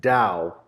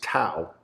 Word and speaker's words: Tao: the Hard Rock, and Dow, which most people pronounce Tao. Oops. Yeah. Tao. It's pronounced Dow in the Venetian.